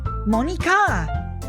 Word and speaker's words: Monica: have its own syllable, the name Monica is separated into mo, ni, and ka, not mo, n, i, and ka.